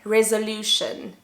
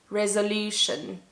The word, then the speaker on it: resolution: the schwa the song the schwa is never stressed in english and the definition of